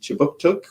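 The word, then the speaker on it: Kjipuktuk: So before we begin, I'd like to acknowledge that Right Start Newcomer Services conducts business on Chibuktuk, which is how you say Halifax in the Mi'kmaq language.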